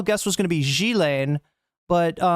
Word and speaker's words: Ghislaine: Now in French, this is normally pronounced Ghislaine. Ghislaine.